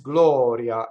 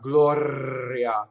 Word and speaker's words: Gloria: Now, how we know this R is flipped, what I mean by flipped is Glɔria, not Gloria. That rolled R is not right in this word.